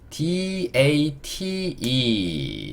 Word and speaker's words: date: E는요 묵음. 마지막에 오는 E는 묵음이다. 요것도 day, 그 다음에 맨 마지막에 T가 모음이 없으니까 의 소리를 달아줘야 읽기가 쉽죠. date. 좀 크게 적어드리면 이 트 이렇게 될 거예요. da가 day, t가 트. 자, date의 의미는요 날짜라는 의미를 가지고 있어요.